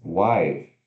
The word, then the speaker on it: wife: Próximo, temos wife, que significa esposa. Se escreve W-I-F-E, né, wife, mas se pronuncia U-A-I, wife, wife.